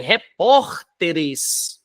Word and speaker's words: repórteres: tônica tá na penúltima agora já em repórteres que é o plural já é proparoxítono porque a sílaba tônica tá em antepenúltima diagnóstico di ag né